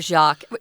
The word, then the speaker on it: Jacques: Which is French, but yeah, Brother Jacques. Jacques is how it's pronounced in French, but that's really how we pronounce it in English, too.